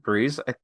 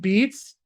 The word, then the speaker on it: Beetz: Bang Zazie Breeze. Am I saying her name wrong? Bang Zazie. Zazie Beetz. Zazie Beetz.